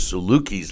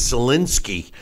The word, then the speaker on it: Sulecki: to watch it and I learned that the pronunciation of which I thought was Salukis last name is Solinsky it has a silent and an S okay